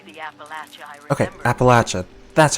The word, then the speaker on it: Appalachia: Okay, Appalachia. That's how you pronounce it.